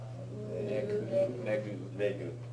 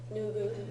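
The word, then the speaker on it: 脱ぐ: This one is Negu. Nugu. nugu.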